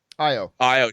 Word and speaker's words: Ayo: plays uh you know i say ayo but i think that's a mispronunciation of the characters name but io she first of all